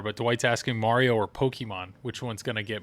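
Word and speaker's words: Pokémon: Pokemon, like the E is an A.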